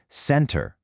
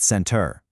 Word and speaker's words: center: It's center with the stress clearly on the first syllable, not center.